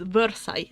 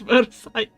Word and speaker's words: Versailles: But they pronounce this as Versailles. Like, that how it's written in English, but it's Versailles.